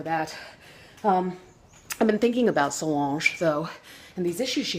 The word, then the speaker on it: Solange: Solange, that's how you say it, Solange.